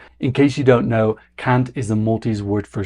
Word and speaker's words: kant: multis word for singing I'm pronouncing it with a hard a but the actual multis pronunciation has a softer a so it's sounds like the c word in English which is a very